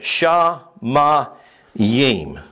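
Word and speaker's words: שמים: word for Heavens called Shin Yim sha ma Yim that's how the word is pronounced and this word right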